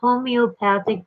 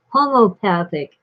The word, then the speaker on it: homeopathic: the opening of his homeopathic practice he was a homeopathic doctor and some people insist that it's pronounced homopathic but it has that e in there it's homeo and i'm stick that's